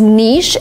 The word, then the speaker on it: niche: better to say Niche we have two pronunciations and they are the same some people say nich and some people say Niche nich is closer to the original pronunciation that is French but in America people say both equally one is not better or worse than the other you can say